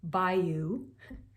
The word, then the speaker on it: bayou: let's say we were singing together the word bayou. Really, it's a two-syllable word, but it has a lot of diphthongs in it.